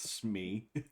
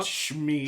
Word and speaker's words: SME: expert in that because And nobody pronounces it Smee. It's Oh, Schmee. Schmee, yeah. I can't remember. There was one or two places where I worked where they actually did SME, and then there were